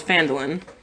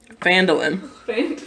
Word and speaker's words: Phandalin: You will get 10 gold pieces each if you escort this cart to a town called Phandalin. Who? Fondling? Phandalin.